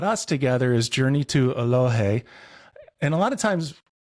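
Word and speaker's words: Eloheh: difference between happiness and well-being yeah and it's pronounced aloh aloh thank you yeah it's a Cherokee word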